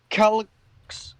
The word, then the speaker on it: Calix: Calix, that is the correct pronunciation.